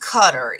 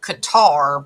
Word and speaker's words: Qatar: exactly meant so first it's pronounced cutter is it not because we all say Qatar but I think it's cutter if I don't want